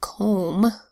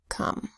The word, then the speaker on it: come: this is another sight word you would think by a silent finally that that would make the oh say its name oh then you'd have comb but we say come so that's the sight